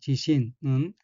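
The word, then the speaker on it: 自信: 둘째 줄에서 첫 번째 어위 한자는 한국으로 자신이고 각기 스스로자와 믿을 신자이고 일본어로는 지신이라고 읽으며 지신은 자신감 자신이란 뜻입니다.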